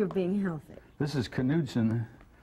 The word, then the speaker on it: Knudsen: Pronounced Knudsen? It's pronounced Knudsen, yes. Because my mother was born in Norway, and I know those things.